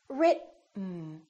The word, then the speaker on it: written: directly to the N this e kind of disappears it's not pronounced so it's basically the T and the N that are next to each other written keep your tongue